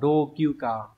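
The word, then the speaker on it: 老朽化: Từ này đọc là rokyuka, có nghĩa là xuống cấp.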